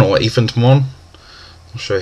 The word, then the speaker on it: Ephant Mon: Of course, Ephant Mon, or Ephant Mon. I'll show you how you want to pronounce that.